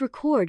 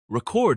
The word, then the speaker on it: record: Why does record mean different things depending on how you say it? Because English words love drama. Record is a noun, while record is a verb.